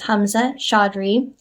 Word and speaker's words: Hamzah Chaudhary: And joining us today is Hamzah Chaudhary, co-founder and CEO at Lightdash, to share the story behind the product and what is next for BI in a dbt-powered world.